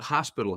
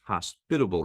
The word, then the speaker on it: hospitable: And it's not hospital healthcare, it's hospitable healthcare, as you pronounce it correctly.